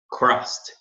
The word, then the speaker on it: crossed: O ED vira um T na pronúncia.